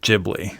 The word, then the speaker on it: Ghibli: But Miyazaki pronounces it Ghibli, so I'm going to go by Miyazaki.